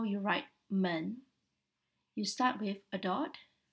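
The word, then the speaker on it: 门: character for the door it is pronounced as man in chinese man the writing looks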